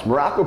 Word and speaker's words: Maroko: I am Coach Maroko, pronounced just like the country, spelled absolutely nothing like it.